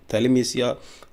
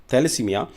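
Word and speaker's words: thalassemia: जी हां, world थैलेसीमिया थैलेमसिया थैलेसीमिया जो डे है जी हां सॉरी प्रोनाउंसिएशन थोड़ा सा गलत हो गया है।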